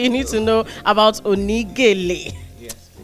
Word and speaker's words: Oni Gele: I want to pronounce it like it really is. Oni Gele. Oni Gele. Yeah, exactly. Okay, I got it now. Oni Gele.